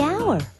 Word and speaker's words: hour: owner the animal the hour wait H is not a vowel sound it's a consonant sound but it's not the first sound the H is silent the hour but what